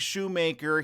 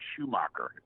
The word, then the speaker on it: Shoemaker: I have these people say, our favorite comedian, Craig Shoemaker. Oh, no. Oh, no. It's spelled Shoemaker. You make shoes. You don't mock shoes unless they're Crocs.